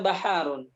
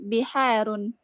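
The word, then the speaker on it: بِحَار: Hadhihi baharun. Laisa baharun. Bacanya yang benar. Hadza bahrun. Semua? Biharun ya Ustaz. Na'am. Ulang. Hadza bahrun. Wa hadhihi biharun.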